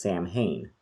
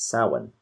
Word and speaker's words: Samhain: of what a lot of people say is samhain and that's actually a wrong pronunciation the actual it's actually gaelic and it's pronounced samhain and so it was a sahan celebration it was one of the sabbats which